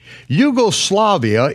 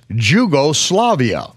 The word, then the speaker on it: Yugoslavia: Yugoslavia is spelled with a capital J, and only Americans mispronounce it as Jugoslavia.